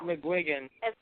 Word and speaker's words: McGuigan: actually said it right did I really yeah McGuigan yeah he hit it right we can up